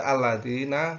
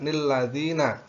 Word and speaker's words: الذين: Jadi bagi pemula atau yang baru mengenal tentang bacaan Al-Quran, jadi pada kalimat alladzi atau itu dibaca alladzina, tidak nilladzina.